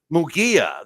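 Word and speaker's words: Munguía: Canelo Alvarez and uh mongaya okay am I saying it wrong Hae mongaya ha Hae mongia mugia that's right Mia right I know I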